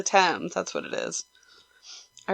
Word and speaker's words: Thames: yep this is it I don't know how to pronounce it I always say Thames but no that's not right is it times two Thames it's the Thames that's what it is